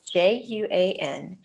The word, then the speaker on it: Juan: name is juan okay it's spelled j-u-a-n it's a hispanic name and it sounds like juan okay let's listen to